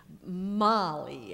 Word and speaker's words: Mali: Mali, as in the girl's name, Mali.